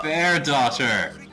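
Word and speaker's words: Bairdotr: Oh, bear daughter! What? Her name is B-A-I-R-D-O-T-R. Pronounced bear daughter.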